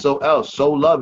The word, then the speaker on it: Soluv: name is s-o-l-u-v h-i-p-h-o-p I spell it out because it is sold it's Sol so love it enough for me